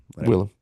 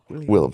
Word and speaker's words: Willem: Willem. William. Willem, say his name right.